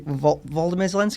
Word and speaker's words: Volodymyr Zelensky: My one worry, Volodymyr Zelensky, that's how you pronounce his name, right?